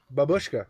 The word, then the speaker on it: babushka: to say babushka twice it's like like a sheep you go Baba stress on the first day okay okay my bad right right babushka like that right babushka